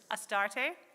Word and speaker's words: Astarte: So before we begin, I'll give you the quick pronunciation lesson. Isis, Astarte, Diana, Hecate, Demeter, Kali, Inanna.